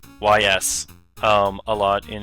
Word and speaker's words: Ys: I believe that's how the game's pronounced. YS.